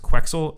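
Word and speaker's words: Quex-Ul: If there's actually a character named I think it's pronounced Quexel, like pretzel.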